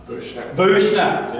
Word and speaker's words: Buechner: Buechner.